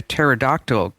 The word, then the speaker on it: pterodactyl: Why is it that we never know when a pterodactyl goes to the bathroom? Because the P is silent.